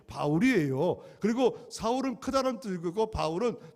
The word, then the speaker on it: 바울: 사울은 히브리식 발음이고 지금 헬라 사람들 상대하기 때 헬라식 발음이 바울이에요.